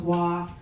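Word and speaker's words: Hoa: I know like when they announced us and I said my name was Wah, I know half the room was like Wah. How do you spell that?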